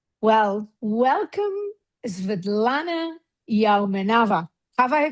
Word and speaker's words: Sviatlana Yaumenava: Well, welcome Vidlana Yaoava. Have I pronounced that well?